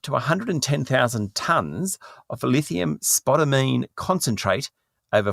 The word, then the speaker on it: spodumene: I had to look up how to pronounce it, spodumene, and it's actually a really great lithium concentrate